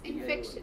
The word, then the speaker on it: infection: Infection. C. T. Yes. Infection on F. Why? Because the last syllable is T I O N. So infection, right? The syllable before ti.